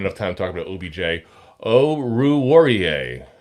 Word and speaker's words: Oruwariye: Oruwariye. I got to say it so slow to say it right.